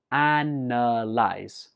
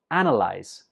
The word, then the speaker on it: analyze: Analyze. Analyze. Some students pronounce this as analyze because in the spelling it has an A, but when we're speaking we just pronounce it analyze.